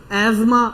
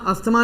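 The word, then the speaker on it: asthma: अब ये कौन सी रेस्पिरेटरी डिसऑर्डर, ब्रोंकाइटिस, एज्मा, अस्थमा नहीं होती प्रोनाउंसिएशन, एज्मा, ठीक है।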